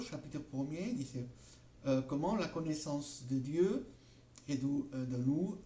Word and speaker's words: connaissance: Estas S ahora no se pronuncian y bueno, el verbo connaître ha variado mucho. Aquí habría que pronunciar la connaissance, no se pronuncia más desde hace más de 200 años aproximadamente. Esas formas arcaicas han desaparecido y lo que tenemos hoy día en el francés moderno es la connaissance, ¿okay?